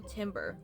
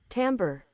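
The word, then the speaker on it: timbre: she got a horrible timber tim timber timber is it timber tim how do you say it tamber tamber tamber got it she's got a horrible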